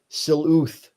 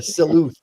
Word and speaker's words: sleuth: And Mloud says, "Uh, I love the robot siluth with the transparent smoke." Yeah, that's different than a silhouette, Sean. Mike, how do you pronounce that again? A sleuth.